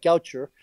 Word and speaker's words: Gaucher: That's spelled like G-A-U-C-H-E-R, like Gaucher, but it's named after a French physician named Gaucher.